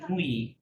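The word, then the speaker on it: nuit: এখানে লোয়াক এটা হচ্ছে নুই নুই কিভাবে এন আর উ আর আই তাকে আমরা বলি ই তাহলে কি হবে নুই টি তো সাইলেন্ট তাই নাই ওকে নুই নুই নুই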